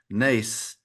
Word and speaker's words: Nace: And today we have Ann Olson and Tucker Nace. Is that the right pronunciation, Tucker? Nace?